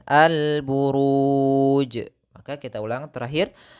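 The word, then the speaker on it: البروج: Lalu ada huruf 'jim' yang kita hentikan, jadi pastilah qalqalah. Jadi kami membacanya sebagai 'alburuj'.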